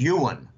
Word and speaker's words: yuan: were Chinese backgrounds and they say Jim the pronunciation is Ewan okay a lot of Americans call it the yuan I prefer just call